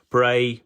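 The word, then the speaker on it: Brea: Um for anyone that that doesn't know Bray is spelled B R E A in this case and that is the Cornish word for hill.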